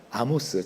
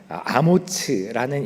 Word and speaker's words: 아모츠: 그래서 그런지 성경은 이사야가 아모스, 정확한 발음 히브리 발음으로 하면 아모츠라는 인물의 아들이라는 점 외에는 이사야의 신상에 대해서는 별다른 정보를 제공하고 있지는 않습니다.